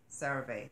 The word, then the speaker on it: CeraVe: CeraVe, that's how you pronounce it.